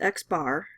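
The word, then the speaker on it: x̄: the symbol like looks like that and it's pronounced X bar if you're finding the mean of a sample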